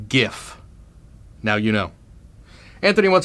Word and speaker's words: GIF: marketing questions completely unprompted the correct pronunciation is gif now you know Anthony